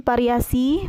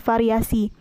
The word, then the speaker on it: variasi: Yang ke-15 yaitu fonem P diucapkan menjadi P. Contoh salahnya yaitu variasi menggunakan P, yang benarnya yaitu menggunakan V, variasi. Yang ke-16 yaitu fonem Z diucapkan menjadi J.